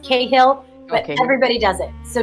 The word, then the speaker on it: Cahill: to say it's pronounced Cahill but everybody does it so don't know if you're if you're in Ireland it's kind of like the hill so you're saying it